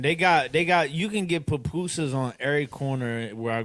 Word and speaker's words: pupusa: PUPUSA? Is that how you say it? I want some now, man. Yes, PUPUSA.